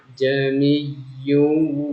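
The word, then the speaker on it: أَعْجَمِيٌّ: Maka hamzah atau alif yang kedua di sini ini tidak dibaca atau dipindahkan ke a menjadi panjang. Bacanya seperti ini. Jamiyun. Jami. Ulangi, perhatikan baik-baik. Jamiyyun wa arabi.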